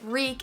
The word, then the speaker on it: wreak: at first reek reek so this verb reek is spelled w-r-e-a-k this means to cause